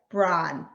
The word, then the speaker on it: Braun: So it's like Braun.